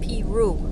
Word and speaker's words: Peru: his animals here in peru in the winter time by the way elderly people around here pronounce it pee roo it's sort of a